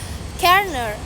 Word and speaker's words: colonel: The pronunciation of colonel originally aligned with it is spelling colonel. Over time the simulation led to the modern pronunciation kerner kern where many of